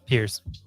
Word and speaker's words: Piers: Is it Piers or Piers? Piers? Piers. Then we said it wrong. It's Piers.